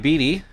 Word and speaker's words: Beatty: to end Moriarty's day bringing Beatty or Beatty okay they both both announcers pronounced it Beady so that's what we're going with again he's with the